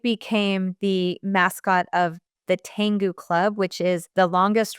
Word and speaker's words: Tengu: Yeah, it's called the Tengu Club. Tengu is spelled Tengu.